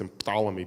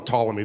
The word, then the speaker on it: Ptolemy: told that uh King Ptolemy though in English we don't pronounce emphalomy because in English we don't like Words that start we call them Ptolemy the p is silent Aaron pankin this is